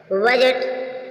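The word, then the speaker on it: budget: है जी से पहले जब भी डी आएगा साइलेंट होगा बजट बजट मीस होता है लेखा जोखा याय जी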